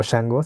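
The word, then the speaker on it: Shangó: que es chango y chango es como un o shango se pronuncia eh es un orisha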